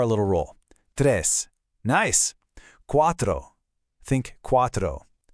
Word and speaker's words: cuatro: Notice how the C in cuatro sounds like a K, but in cinco it sounds like an S?